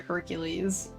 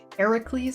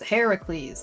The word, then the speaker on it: Heracles: Yeah, the name itself is Roman. That's what they the Greeks call them, but like it's like pronounced Heracles. Heracles.